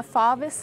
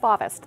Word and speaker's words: Fauvist: Fauvist, that's how you say it? Yes, Fauvist.